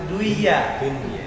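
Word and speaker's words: دُنْيَا: Karena dunia udah tahu bacanya langsung. Wa mal hayatud dunya. Kalau ngajarin anak kecil dia duya aja. Ini kan idgham ustaz. Gurunya juga enggak tahu iya juga ya. Iya mungkin bacanya duya.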